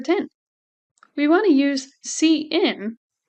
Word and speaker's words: cin: we want to use C in notice it's pronounced c n not sin we use C in